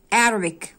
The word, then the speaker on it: Arabic: يعني الكتابة, reading القراية, Arabic ودي لغة اللي هي العربي بتنطق كده Arabic Arabic, C لما تيجي في آخر الكلام بتنطق ك, Arabic Arabic يعني العربي,